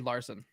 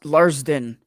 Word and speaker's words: Larson: And Reed Larson. Yeah, he's irrelevant. Who? What? But yeah, I'm telling you, I believe it's Larsden. You guys aren't saying it right.